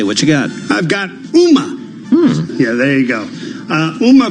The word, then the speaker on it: Ooma: I've got UMA. Yeah, there you go. UMA provides internet-based telephone service for homes and businesses and operates a residential security service. UMA was founded in 2004 and began selling its phone equipment in 2007.